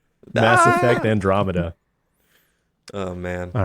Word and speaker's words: Andromeda: it how do you say it is it Andromeda or sorry yeah Andromeda yeah that's I don't really acknowledge that one